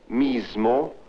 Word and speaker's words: mismo: There are also words like mismo, asno, with the z sound.